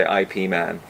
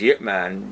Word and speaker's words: Ip Man: the payoff would be people would say yet rather night rather than Ip Man I mean it sounds